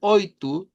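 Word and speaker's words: oito: El cuatro, el cinco y el oitu suenan a una u al final.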